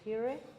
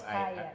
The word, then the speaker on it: Hiire: My name is Hiire, Diamond Chapter. I do ticketing. Hiire. Hiire. Like Hiire. Hiire. Spell it. H-I-I-R-E. H-I-I. Not higher, yes. Not higher. No.